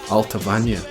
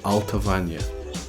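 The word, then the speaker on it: Allt-a-Bhainne: have to go back to the the Gallic pronunciations to try and watch our vest with the lens lessons and that would be alpha Vanya if you see out of in al-qaboun or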